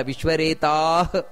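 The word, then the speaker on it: ವಿಶ್ವರೇತಾಃ: ಹೇಳಬೇಕು ಸುರೇಶ ಶರಣಂ ಶರ್ಮ ವಿಶ್ವರೇತಾ ನೋಡಿ ಅಲ್ಲಿ ವಿಶ್ವರೇತಾ ಪ್ರಜಾ ಅಲ್ಲ ವಿಶ್ವರೇತಾಹ ಆ ರೀತಿ ವಿಶ್ವರೇತಾ ಪ್ರಜಾ ಭವಹ ಅದು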